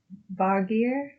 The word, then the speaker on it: Vargr: In Norse mythology, a Vargr, Vargr, is a wolf, especially the wolf Fenrir, and the wolves that chase the sun and moon, Skull and Hati.